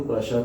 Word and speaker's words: Prussia: मैं फिर से बता दूं, प्रशा का मतलब जो प्रशा की स्पेलिंग है वो ये वाली है, PRUSSIA। इसको बहुत ज़्यादा प्रूसिया बोल देते हैं, है ये प्रशा।